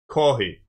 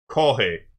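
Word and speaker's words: コーヒー: Kohi. You just say coffee, but kohei, just leave the F's out. Kohei.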